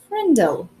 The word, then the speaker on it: Frindle: And there, between frimmel and fringe, he read Frindle, pronounced Frindle.